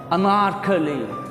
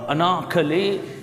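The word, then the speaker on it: Anarkali: यस, अनारकली, अंग्रेज को आर को अमेरिकन जो हैं वो प्रोनाउंस करते हैं, ब्रिटिश तकरीबन स्किप कर जाते हैं। अनारकली, वो ऐसे लगता है जैसे ऐनक वाली कह रहे हैं, अनारकली। अमेरिकन इसको अनारकली पढ़ेंगे, ठीक है।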